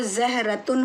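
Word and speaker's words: زهرة: एक रूल होता है, एक्चुअली इसका जो प्रोनाउंसिएशन है वो ज़हरतुन होता है, लेकिन अरबिक का एक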